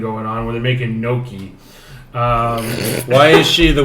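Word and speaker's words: gnocchi: potato filed pasta yii he just said it wrong it's okay it's a hard word it's got a gene beside each other it's tough neither am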